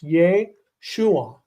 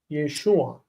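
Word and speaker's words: ישוע: Whereas what Jeremiah was bringing up, the name Yeshua has furtive patach, and the first syllable is full. It's Yeshua, Yeshua.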